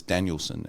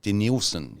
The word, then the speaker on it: Denilson: heard his name as danielson and uh uh but uh it was made clear to me afterwards it was then de nielsen or d nielsen yeah um is how it's to be pronounced and so we've got